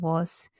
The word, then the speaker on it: was: that's definitely tricky and z we've learned that this letter represents s but we can hear a buzzing sound at the end of was so this is a